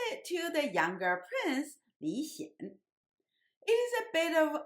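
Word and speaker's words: 李顯: the same in English, but in Chinese, one of them pronounced in the second tone, and the younger one's name pronounced in the third tone. So one is Li Xian, and the other one is Li Xian.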